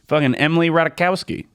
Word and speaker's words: Emily Ratajkowski: news about Petey Petey Pete Emily Ratajkowski that's how you say it yeah I don't